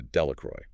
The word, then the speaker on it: Delacroix: Delacroix. Delacroix translates to of the cross, but the villagers vulgarize the pronunciation to Delacroy.